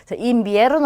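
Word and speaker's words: invierno: 자, 가운데에 있는 이와 첫 번째 있는 이 둘 다 이로 발음하면 돼요. 그러면 인비에르노라고 발음이 되죠. 인비에르노 하면 계절 중에 하나인데 바로 겨울을 뜻합니다.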